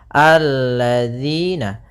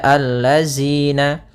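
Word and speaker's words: الَّذِينَ: Maka kita baca di sini alladzina. Kemudian pada lafal di sini hati-hati dalam pelafalan jangan dibaca allazina. Yang sering terjadi kesalahan adalah membacanya zal dengan zai.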